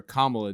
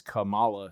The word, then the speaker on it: Kamala: I learned that from calling having to call her Kamala despite the fact that I read that name as Kamala since the 80s but whatever.